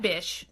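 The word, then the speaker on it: Bich: His last name is B-I-C-H, which I would have pronounced bitch. Like, that bitch bought our patent, right? I'm not saying B-I-T-C-H. I'm saying B-I-C-H. Like, bish, please.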